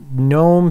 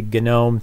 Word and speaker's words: GNOME: get first of all gnome 3 point three four actually genome three point three four is the way to pronounce it there are some minor